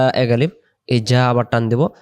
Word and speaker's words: جَاءَ: বোঝার জন্য এই যে মোটা চিহ্ন আছে তাহলে উচ্চারণটা করব এটা ই তাড়াতাড়ি যা এক আলিফ এই জা আবার টান দিব জা আ এখন এই দুই শব্দে